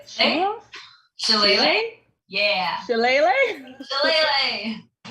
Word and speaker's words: Shillelagh: Can't pronounce this. Shellef? Shellef? Shillelagh? Yeah. Shillelagh? Shillelagh.